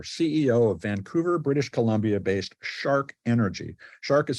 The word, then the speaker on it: SHARC: is Lynn Mueller CEO of Vancouver British columbia-based shark energy shark is spelled s-h-a-r-c shark energy is a Pioneer in